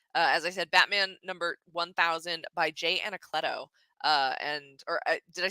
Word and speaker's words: Anacleto: Pacific, and that is the as I said, Batman number 1000 by Jay Anacleto. Did I say that right, Anacleto?